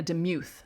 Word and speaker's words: DeMuth: reed at second and dana demuth or dana demuth that's how you say it at third base